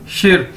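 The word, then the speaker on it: 十: तो सन शिर, ये देखिए प्रोनाउंस करने का तरीका बताया आपको, सन शिर 30। तो आप समझ रहे हैं कि जो खाली 10 था वो तो वैसे ही है शिर, एस एच आई, शिर, लेकिन जो बकाया है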